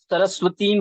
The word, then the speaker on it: सरस्वतीं: सरस्वतीं व्यासम, तो इसका जो मात्रा है वो छोटी ई की है, सरस्वतीं, हम इसको ऐसे एक्सटेंड हाँ, करेंगे। सरस्वतीम है, मतलब दीर्घ, मतलब बड़ी ई है।